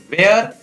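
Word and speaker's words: where: What, व्हेन, वेयर, which, Y, विट, वाइट, विस्पर, will, वीज।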